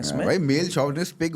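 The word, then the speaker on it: chauvinist: आप देखो ना, वो शॉविनिस्ट तो अब बोलना शुरू किया, पहले तो साला चौविनिस्ट बोल देते।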